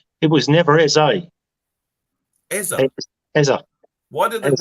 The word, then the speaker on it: Eze: It was never Eze. Eza. Eza. Why did Eze. why does our stadium announcer call it Eze then? And everyone else I ever speak to, it's Eze. It's Eze, and not Eza.